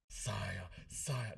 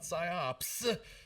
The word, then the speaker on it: PSYOP: So anyways, Ken, the IO guy, we're here to talk Psyop. Psyop, not PSYOPS. Psyop.